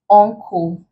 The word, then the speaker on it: uncle: this, the N has to come before a k sound. So not letter K, but consonant K. So it could be in the form of C or K or CH, as long as you pronounce it k, X. So as long as you pronounce this letters in words as k, and you have letter N coming before it, we classify it under the ng.